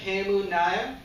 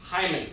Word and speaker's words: Hemu Nair: know that too because those guys nailed my name those guys are on it they're like hello could i speak to mr hamunaya my name is john you pronounce my name better than i do john my name has seen a lot of rough days though there have been plenty of times it's been mispronounced like the worst thing i've been called and this was by a woman was hyman ouch yeah what i